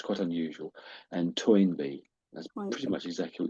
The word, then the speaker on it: Toynbee: And Toyinby, that's pretty much exactly what you said, ToyinB.